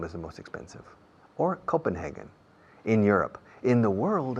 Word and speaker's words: Copenhagen: It's either Copenhagen, con N al final, Copenhagen or Stockholm.